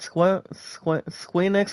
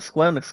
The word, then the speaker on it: Square Enix: poll, plenty of Square, no, how do I pronounce it? There we go. With plenty of Squeenix or Square Enix games coming out shortly.